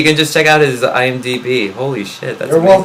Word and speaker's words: IMDb: Is it IMDb or IMBD? IMDb. Internet Movie Database.